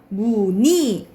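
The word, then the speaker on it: 무늬: 그리고 자음을 첫 소리로 가지고 있는 음절의 이중모음 은은 이로 발음한다 라는 거. 이건 무조건 이로 발음하는 거예요. 그러니까는 우리 이중모음 의 있죠. 이거 의는 무조건 이중 발음으로 발음해야 되는데 만약 여기에 음가를 가지고 있다. 그럼 무조건 이로 발음해야 된다 이 말이야.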